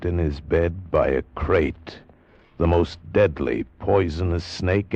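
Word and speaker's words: krait: Tonight we escaped to India and the story of a man trapped in his bed by a crate.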